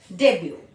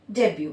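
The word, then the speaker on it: debut: डेब्यू यहां पे टी हमेशा साइलेंट रहता है। डेब्यू बस हम इतना ही प्रोनाउंस करते हैं। ये क्या है? ये एक फ्रेंच वर्ड है।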